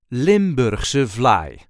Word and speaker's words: Limburgse vlaai: say limber suly limber there is a light emphasis on the second word limber Surly limber fly limur vly the lmly originates from